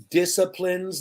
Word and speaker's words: discipline: children or the teacher disciplines the child i never disciplined my dog right mickey what is this word discipline do you know don't pronounce the c just dis discipline okay this word means